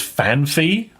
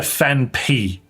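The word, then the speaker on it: Phanpy: I've always pronounced Fanpy as Fanfy. See, I get that, but it's clearly a Fanpy. Anyone that calls that Fanpie is illiterate. There's no second H, there is not.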